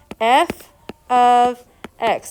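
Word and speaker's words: f(x): It is pronounced, I want you to write this down, f of x. Don't say f times x, don't say f parentheses x, it's f of x.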